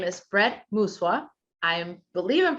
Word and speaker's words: Brett Mooswa: So Brett Mooswa, did I say that correctly?